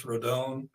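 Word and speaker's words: Rodón: 12 minutes ago left-hander carlos rodon i guess rodon better pronunciation but he's in agreement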